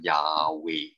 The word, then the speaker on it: Yahweh: h w h is you cannot pronounce because there's no vowel so what do they do they add vowels so that it can be pronounced so the name of god is actually called yahweh okay or jehovah in